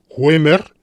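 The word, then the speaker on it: Huemer: en 11º michael gamer waimer es un apellido germánico por tanto ue se pronuncia en alemán el primer es un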